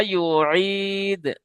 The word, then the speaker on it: يعيد: ইয়া পেশ কি হয়? ইউ। আর আপনি পড়ছেন উ।